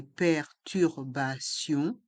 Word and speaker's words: perturbations: le s est mué des perturbations le T se prononce ce car il est entre deux voyelles les voyelles a et i si et les lettres i o n on le son ion Bion et le s est mué perturbation une grève des